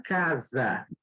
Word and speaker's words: casa: Eu tenho aqui a penúltima sílaba tônica, última, penúltima, casa. É uma palavra paroxítona.